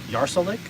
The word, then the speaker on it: Yarsulik: So like my full real name is Yarsolik, and so it's easier.